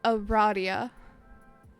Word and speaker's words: Aradia: It's pronounced Aradia.